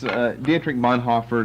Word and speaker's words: Dietrich Bonhoeffer: Bonhoeffer, and that's Dietrich Bonhoeffer is the best way to pronounce his name for English people, and it's not that